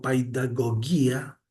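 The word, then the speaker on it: παιδαγωγία: etimológica de pedagogía, que viene del griego paidagogía, y que se pronunciaba así, gracias a Google Translate.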